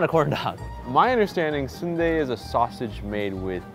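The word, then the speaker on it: 순대: some of them do spelled like an ice cream sundae but it is not pronounced like Sunday is this the same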